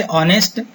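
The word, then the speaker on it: honest: इसी तरह से ऑनेस्ट, ऑनेस्ट मैन, तो पहला अक्षर हमने पढ़ा आ, एस से चाहे स्पेलिंग स्टार्ट हो रहा है लेकिन उसकी साउंड नहीं आ रही, साइलेंट है वो, आ से स्टार्ट हो,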